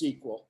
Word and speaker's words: SQL: about SQL first and foremost um it it's pronounced SQL as in like in a TV show a